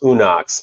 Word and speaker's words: Unox: This is the new, and it's pronounced Unox. I used to pronounce it like 6 different ways before this.